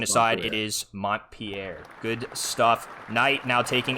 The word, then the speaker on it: Montpelier: Yeah, pronunciation What is aside, Montpelier? it is Montpelier.